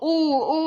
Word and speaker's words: Eau: I'm pronouncing it in English, not in French.